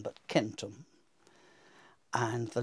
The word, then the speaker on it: centum: Whereas I hope some of you will know that in Latin, C is never pronounced like an S. So the word for 100 isn't centum, but centum.